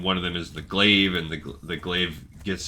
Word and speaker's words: glaive: figure it out pronounce let's pronounce GL or glaive oh it's glaive it just makes sense